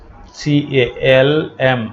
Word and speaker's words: calm: CALM, এখানে L অনুচ্চারিত থাকবে, calm উচ্চারণ হবে calm, শান্ত।